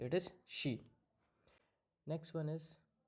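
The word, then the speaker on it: し: इट्स नॉट सी, इट्स शी.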